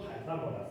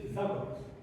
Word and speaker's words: Pythagoras: His name is not Pythagoras, English people pronounce it wrongly. His name is Pythagoras, this guy.